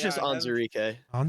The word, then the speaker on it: Onwuzurike: Geek, according to how to pronounce, it is just Onzurike.